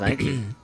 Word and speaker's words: Nike: The Nike Swish.